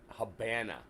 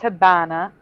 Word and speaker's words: Habana: Habana. It was pronounced Habana because the V sounds like a B in Spanish.